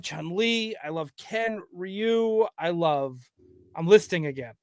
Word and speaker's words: Ryu: I like to say Ryu, not Rayu as some Ryu. Ryu, that's how Yeah, that's how you would say it if you were in Japan.